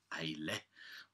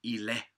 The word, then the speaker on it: Islay: It's a single Islay, or actually it's called Islay or Islay. Depends on if you Celtic or it's a malt.